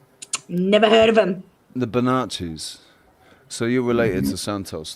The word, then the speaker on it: Bonacci: Well, if it's got two C's and an I at the end, it's just want to correct you on the pronunciation. It's Bonacci. Bonacci, Bonacci, the Bonacci family.